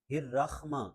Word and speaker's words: الرحمن: آنی چاہیے۔ بسم اللہ الرحمن الرحمن، یہ خا بھی نہیں ہے، حا ہے۔ الرحمن الرحیم۔ نرخ، ایک